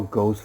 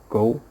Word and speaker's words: gho: so questions where are ghosts from ghost gho supposed to be pronounced go more than one plural